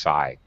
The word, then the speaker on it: psi: It's psi. The P is silent. It's just pronounced psi. So yes, psychic.